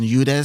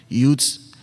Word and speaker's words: Eudes: Some say John Eudes, some say John Eudes, however way you want to pronounce it.